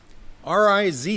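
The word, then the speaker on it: rizz: bring us up to date on that RZ r i z z RZ oh it's spilled with two z z yes yes Zed it's pronounced in the dictionary yeah r i z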